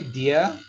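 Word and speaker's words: dia: we have beer okay dear the same thing pronunciation like d-e-e-r-o-d-a-r there okay so dear means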